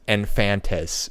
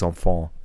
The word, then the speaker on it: enfants: So But it's like in English it looks like au revoir les infantes, but in French it's au revoir les enfants.